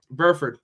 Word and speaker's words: Burford: how do you even say his name oh burford burford right so out of the same place as